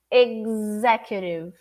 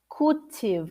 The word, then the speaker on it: executive: what should you fix two sounds here ex it's like there is a c or a g before the z executive and also it's not curtive it's q q q-tiff executive two possibilities okay repeat with me executive executive executive or executive re read like an r executive one more time